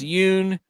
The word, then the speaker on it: Yoon: His wife's name rhymes with loon. It's Yoon.